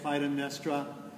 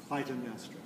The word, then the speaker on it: Clytemnestra: We have, if you look in the third column, about 3/4 of the way down, you'll see Clytemnestra. That's pretty much how I'm going to say it, Clytemnestra.